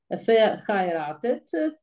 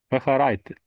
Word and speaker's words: verheiratet: Also du musst auf I Akzent I. Und ja, diese Betonung machen. Also nicht verheiratet, I. Nicht verheiratet. Verheiratet.